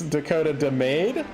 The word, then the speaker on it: Dakota DeMade: Just because we don't want to make a habit of this, it's Dakota DeMade. And did I say it wrong?